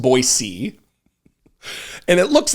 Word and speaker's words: Boise: Clearwater County uh but there's another town near boisey it's a suburb of boisey which by the way is not Boise it's pronounced boisey and it looks like kuna but it's Cuna